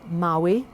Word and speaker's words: Maly: My father is half Bohemian, half Polish, hence the name Maly is not Polish but Bohemian. You would pronounce it Maui, but nonetheless it's of the same Eastern European descent.